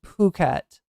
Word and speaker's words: Phuket: It's actually Phuket, right? Just like it's it's not Thailand, it's it's Thailand.